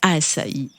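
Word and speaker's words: açaí: ou la spiruline assailli on l'appelle aussi assaï et se prononce à Sai Euterpe au lait racéa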